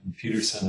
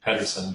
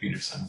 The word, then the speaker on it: Pederson: Pederson is P-E-D as in David, E-R-S-O-N. So it looks like Pederson, but it's pronounced Pederson.